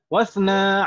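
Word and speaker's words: اثنا: Oh, dibacanya wasna ya? Naam, kenapa kok dibacanya demikian? Hamzah wasol. Hamzahnya hamzah wasol, ya kan Ibu ya? Iya. Dan hamzah wasol. Isnani, iya itu kan hamzah wasol. Iya. Kalau di tengah susunan kalimat maka tidak terbaca, jadi wasna.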